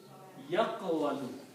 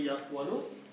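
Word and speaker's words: يقول: If we put the same harakats as we put in here on these three letters, this will pronounce like yaqwalu. Okay? Pronunciation will be yaqwalu, and the meaning will be he says, third person.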